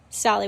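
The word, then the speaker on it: Tsali: Solly with a silent T, that is a recreational area within the Nantahala National Forest where folks come to camp, hike, bike, and kayak.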